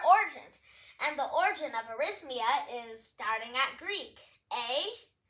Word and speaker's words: arrhythmia: So here are all of the characters, but it's basically just pronounced arrhythmia. Let's break it into our syllables. Riz, as in rhythm, and mia, as in mia, the name.